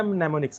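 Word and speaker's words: mnemonics: Symbols हमने इस्तेमाल किए, उसको हमने नाम दिया नेमोनिक्स का। एम साइलेंट होता है।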